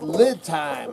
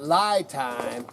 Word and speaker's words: LiTime: me man and it's lid time I've been calling it lie time and it's actually lid time from lithium you know lithium time so I've been pronouncing that wrong so so you got